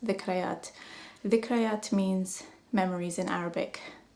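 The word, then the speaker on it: ذكريات: Zakreet means, it's actually pronounced in Arabic, it's pronounced dhikrayat.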